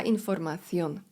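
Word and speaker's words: información: La informacon informacja litery C wymawia się z językiem między zębami. La informacjon el internet.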